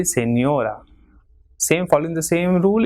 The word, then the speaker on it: señora: Same way, señora, 3 syllables, señora. So second last will be stressed as it is ending in a. So it will be señora.